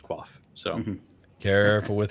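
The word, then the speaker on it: Quafe: so it's more of a quaff but it's pronounced quaff so careful with how you say that word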